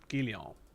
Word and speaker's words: Guylian: How to pronounce Guylian? Gillian. Gillian.